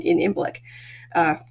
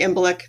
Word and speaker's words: Imbolc: But it's it, the Celts celebrated dairy at that point because in Imbolc, most people say Imbolc or Oimilk. I say Imbolc. That was how I was taught to pronounce it.